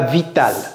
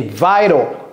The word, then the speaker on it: vital: C'est pas vital, c'est vital that she go.